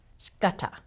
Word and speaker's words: Scudder: No, you swallow it. You keep it close at hand. Speak it out. Scudder. Scudder. Scudder. There you go. Perfect.